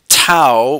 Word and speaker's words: tau: found by this formula tau which is a Greek letter it rhymes with now anyway it's for torque